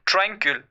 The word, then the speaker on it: tranquil: There are two syllables. It's TRAN, train, QUIL, QUIL, tranquil. I hope you got the pronunciation.